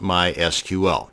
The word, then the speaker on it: MySQL: And yes, it's pronounced MySQL, not MySQL.